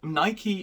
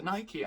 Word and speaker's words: Nike: Nike is a Greek goddess, which is pronounced Nike, so why are we letting Greek people decide what the English flag is?